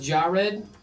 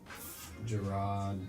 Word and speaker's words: Gerard: Your Jared, your name is pronounced Jed. Nope. Gerard.